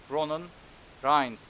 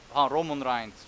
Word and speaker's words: Roman Reigns: Şöyle okunuyor bilmeyenler için. Şöyle. Ronan Reigns. Roman Reigns.